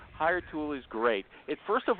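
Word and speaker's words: Hiretu: Hire tool. Hire tool. Hire. That's how they say it, like a sneeze. Hire, but they don't spell it that way.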